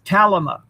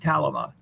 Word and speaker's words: Calima: Um The English word Calima is Mhm. Calima, I kept wondering how to say that. Yeah, Calima. That's how you say it, Calima.